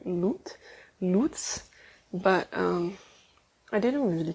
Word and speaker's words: Luts: c-h-e-u um yeah but basically i i think in english it will translate to loots so it's actually loot